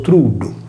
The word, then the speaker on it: trullo: Il truddu sardo richiama alla mente il trullo pugliese, che con la doppia L latina di suono cacuminale si pronuncia anch'esso truddu.